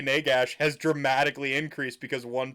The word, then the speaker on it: Nagash: Like I pronounced it Nagash when accepting my trophy.